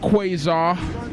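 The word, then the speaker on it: Qwazar: i i myself from q-w-a-z-a-r that's pronounced quasar what's up folks my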